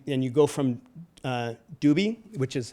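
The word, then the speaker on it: Dubhe: stars and you and you go from uh Dubbie, which is how it's pronounced, I checked.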